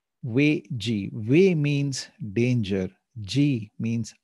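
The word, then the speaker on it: 危机: In Chinese, the word danger is pronounced as Wei Ji. Wei Ji.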